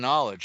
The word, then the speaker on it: knowledge: What's that silent K doing on knowledge?